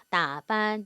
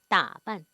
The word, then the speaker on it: 打扮: 원래 이 빤이 사성 글자예요. 그런데 경성으로 변한 거거든요. 그러니까 발음하실 때도 따반 이렇게 길어지면 일성처럼 들려요. 그러니까 그렇게 하지 마시고 따반 따반 따반 이렇게 하는 건 아니잖아요. 그렇죠? 그래서 이거 경성으로 약간 사성 느낌 주란 얘기예요.